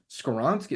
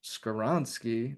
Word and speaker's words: Skowronski: I was like, Skowronski. And they're like, no, you're saying it wrong. The W it should sound like a V.